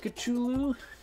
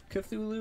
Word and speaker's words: Cthulhu: fight the eye of chulu cthulhu whatever doesn't really matter how you say it both ways work so what we're gonna